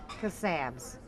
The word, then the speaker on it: Kasabs: It is Kasabs.